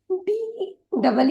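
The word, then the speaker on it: deed: इसीलिए D double E डी में हम ड ई ड नहीं पढ़ेंगे, हम उसे पढ़ेंगे ई, डीड। डिड, डी का आवाज ड, दो बार ई आया है इसीलिए एक ही बार ई उच्चारित करेंगे, वह होगा ई। और डी डबल ई डी होगा डिड। डिड।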